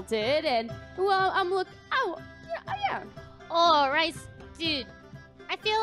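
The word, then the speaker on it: Rhys: The name is spelled R-H-Y-S. Noted. It's not the food.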